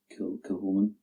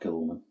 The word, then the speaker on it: Kilchoman: Kilchoman. I even looked that up. I even looked up Kilchoman.